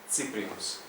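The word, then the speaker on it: Cyprinus: змінилася на це і в комбінації і cє і C вона читається як C с або ці цирзіум центауреа ципрінус А перед такими голосними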